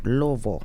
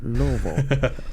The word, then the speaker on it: Louisville: Redmore Live Music, and Saturday we'll be at Louisville at Diamond Pub and Concert Hall. Yeah, Louisville. That's my stomping Louisville. ground. I pronounced it wrong, right? It's Louisville. Okay. Louisville. I'm from Kentucky. It's Louisville, not Louisville.